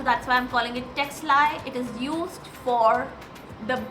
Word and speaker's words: Ctexli: The C is silent and that's how I call it texli and this is the brand name.